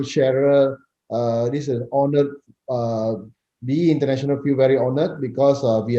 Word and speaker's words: BE International: Is it BE International or B International? It's BE International.